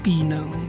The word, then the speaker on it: Penang: Yung pronunciation pala ng Penang, it's not Penang, it's Pinang.